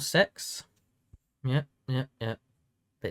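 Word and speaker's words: CeX: It's called Sex. Yeah. Yeah. Yeah. But it's spelled C X. It's cool. It's pronounced sex, but it's CE X.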